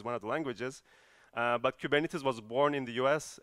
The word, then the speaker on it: Kubernetes: as you see here it's a Greek word that everyone mispronounces so the right way of saying kubernetes is given it is and the reason why